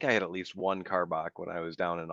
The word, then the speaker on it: Karbach: Kyle actually sent me some Texas beers, so I'm drinking Rodeo Clown by is it pronounced Karbach? Yeah, Karbach Brewing Company out of Houston.